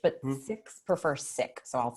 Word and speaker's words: Sikh: That's sometimes we pronounce that Sikh, S-I-K-H, but Sikhs prefer Sikh, so I'll say Sikh.